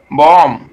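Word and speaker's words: bomb: এল ইউ এম বি ই আর, plumber, এটি বম, বি ও এম বি বম, সি ও এম বি কম, সি আর ইউ এম বি ক্রম, ঠিক আছে।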